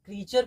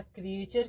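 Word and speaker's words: creature: देखिए इसको हम लोग क्रचर पढ़ेंगे। है ना? क्रिएचर की जगह क्रचर हम लोग पढ़ सकते हैं इसको क्रचर।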